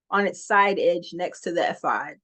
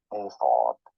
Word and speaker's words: ephod: In English, this is normally pronounced as ephod. Ephod. So what I think is happening is my English, my American English, is getting sometimes confused with pronouncing the Hebrew word.